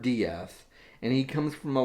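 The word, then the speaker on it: d'Eath: that that's right it's it's spelled exactly like death except for the the apostrophe between the d and the e and so it's edward diaz and he comes from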